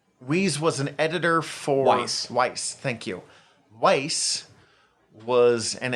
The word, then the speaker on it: Weis: Dragonlance was created by Margaret Weis and Tracy Hickman. And I really hope those names are pronounced correctly. In 1984. Weis was an editor for... Weiss, thank you.